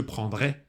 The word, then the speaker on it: prendrai: И в будущем je prendrai, а и читается «э».